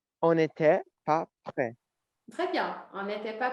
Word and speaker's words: prêt: On était, sans prononcer le T, sem pronunciar o T aqui. On n'était pas prêt.